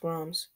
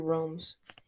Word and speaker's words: ROMs: so then roms mode yeah it's pronounced roms i always pronounce it realms i'm pretty sure it's